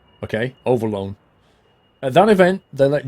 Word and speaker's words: Overloon: Pronounced Overloon. Okay, Overloon.